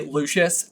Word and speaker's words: Lucius: like you always say I always say Lucius and I always feel like you pronounce it like the full like Lucius oh I'm just saying that's how Jim Dale says it sometimes lucious Lucius lucious yeah I